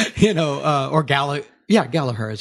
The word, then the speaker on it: Gallagher: Yeah, Gallagher is how they pronounce it.